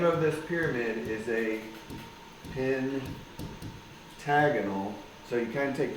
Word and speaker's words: pentagonal: the AL but then you pronounce it differently instead of Pentagon it's pentagonal pyramid so you name the